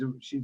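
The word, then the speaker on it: Æ: is a is a high high ranking she's a she's a witch um and then elon's son's name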